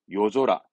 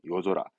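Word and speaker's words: 夜空: 말이 없잖아요 뜻은 밤하늘이죠 밤은 요르니까 이때 발음은 요조로 갑니다 요조라 뒤에 오니까 땡땡 붙습니다 요조라 발음은 요조라 밤하늘은 요절아 밤하늘은 요조라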